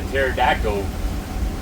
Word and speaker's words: pterodactyl: Why can you not hear the pterodactyl go to the bathroom? Why? Because the P is silent.